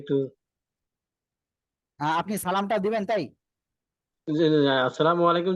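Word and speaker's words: السلام عليكم: একটু কনফিউশন আছি যে প্রথমে আলিফ পরে যে লাম আছে না লাম তো উচ্চারণ হয়তো না এখানে এখানে লামের উপরে তো কিছু নাই এজন্য উচ্চারণ হবে না ক্লিয়ার ওই যে লাম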